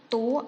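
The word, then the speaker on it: toi: 0.7 yang kedua yaitu tua atau kamu dalam bahasa Perancis disebut Toa tulisannya t-ui tapi membacanya tua nah tuh ini Suzy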